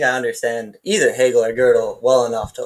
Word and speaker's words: Gödel: Or Gödel, I don't know how to pronounce his name. Gödel, like Gödel's incompleteness.